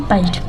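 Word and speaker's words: patched: CH के पहले मैंने बताया कि T आया हो तो वो साइलेंट रहता है, इसलिए इसको इसमें भी बोलते हैं पैच्ड।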